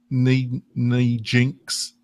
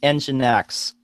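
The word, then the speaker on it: nginx: it correctly John is is it NE n Jinx the alternative okay yeah so that one it's engine X engine oh sorry engine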